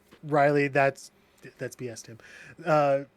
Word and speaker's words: Raiiley: And when you pronounce it, it says, but it's Riley.